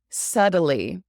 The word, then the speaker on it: subtly: Subtly. This is a really annoying word because it is not said the way it's spelled. Subtly. You'd think it would be subtly, but it's actually subtly. S-U-D, subtly.